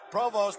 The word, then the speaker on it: Provost: of Ted provo's name it is a French name initially from Canada Provost an American boy who